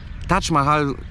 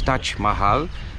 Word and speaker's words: Taj Mahal: odpowiadały i tym sposobem Taj Mahal, to nie jest prawidłowa polska wymowa, bo powinno się mówić Taj Mahal, stał się jednym z tych obiektów na tej nowej liście.